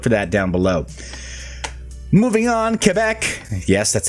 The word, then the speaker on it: Quebec: so look to that down below moving on Quebec yes that's how it's pronounced folks let's be culturally sensitive Quebec is